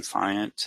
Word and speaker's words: Fant: Uh, I just kind of, you know, my the cue that I give to people to remember how to pronounce it is just like a giant but with an F instead of the the G.